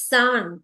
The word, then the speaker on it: さん: Not Chan, it's San, S-A-N.